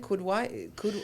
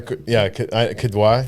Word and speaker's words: Kidwai: Wasn't it Kudwai? I never pronounce it right. Noor, Kidwai. Kidwai, yeah.